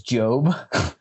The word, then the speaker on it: Gob: But so the oldest brother, his name is Job. So he's a magician, and so his actual name is George Oscar Bluth, but he shortened it to G-O-B, so it's Gob, but he pronounces it Job.